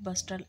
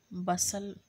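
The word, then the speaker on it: bustle: there वास a great बस्टल एंड स्टेर बसल टी जो होगा वह साइलेंट होगा बसल होगा ठीक है ना एंड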